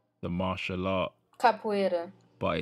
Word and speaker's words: capoeira: to obviously their rhythmic people, they would dance capoeira, the martial art. Capoeira. But it's the capoeira. Yeah, okay, how do you pronounce it?